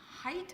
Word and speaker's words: Haidt: There's a guy named Jonathan Haidt, I think is the way you say his name, and he's amazing.